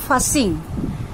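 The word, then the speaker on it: fussing: ফাসিং don't say ফাসিং উচ্চারণ এফ U double S আই এনজি উচ্চারণটা হবে ফাসিং কান্নাকাটি বন্ধ করো স্টপ ফাসিং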